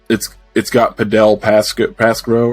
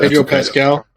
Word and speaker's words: Pedro Pascal: I didn't watch it, and it's got Padel Pasco, or was it what's his name, Pasco? Yeah, I think so. Yeah, I probably just butchered that. Pedro Pascal.